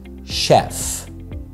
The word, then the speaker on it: chef: أو قائد chief و chef يعني طباخ محترف. أوكي، فالكلمتين بيلخبطونا جدا. chief chef chief chef الch هنا في chef ما بتتنطقش الت، بتتنطق شه بس زي الاس اتش chef.